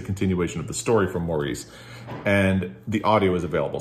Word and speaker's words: Maurice: They pronounce it Morris in the UK, and I can't stop saying Maurice. So I'm going to keep doing it.